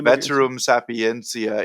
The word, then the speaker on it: Veterum Sapientia: Yeah, we're the Veterum Sapientia Institute. That's a good ecclesiastical Latin pronunciation.